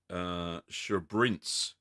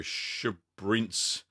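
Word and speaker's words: Sbrinz: Also a Swiss cheese in the Alpine style called Schabrinz. I think that's how you pronounce it. It's spelled S-B-R-I-N-Z. So Schabrinz.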